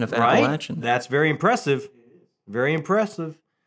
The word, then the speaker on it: Appalachian: I appreciate the correct pronunciation of Appalachian.